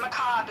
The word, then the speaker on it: macabre: Macabre is how you pronounce it.